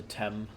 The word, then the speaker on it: Thames: no the teams or if you've never heard it pronounced before the thames the tem um so um you